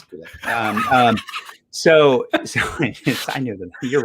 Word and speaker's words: Gulag: No, it's not. It's Gulag.